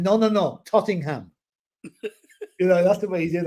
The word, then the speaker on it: Tottenham: No, the only way that came out a bit was when somebody pronounced Tottenham and Ozzy said, no, Tottingham.